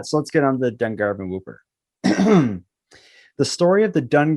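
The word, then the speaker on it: Dungarvon Whooper: famous ghost story is the story of The Dun Garvin whooper some people call it the dung Garvin Whopper because it's spelled the same way as the burger but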